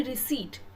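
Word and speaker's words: receipt: रिसिप्ट ऑफ my bill तो जो pronunciation प अगर आप बात करें तो the pronunciation is basically रिसीव पी जो है वह साइलेंट होता है ओके और अगर आपने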